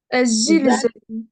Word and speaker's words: الزلزال: ال الز Azilzalu. Azilzalu. الزلزال Attention, parce que moi, j'entends que tu prononces le lemme ici, hein. Alors qu'il ne faut pas le prononcer.